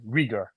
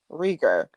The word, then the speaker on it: Reiger: the podcast yeah definitely my first name is pronounced um last name riger riger rer thank you so much for joining